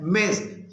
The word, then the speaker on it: Ms.: मिस Neha is a very good instructor of mathematics, जबकि MS इसकी pronunciation है मिस, ऐसी खातून जिसके बारे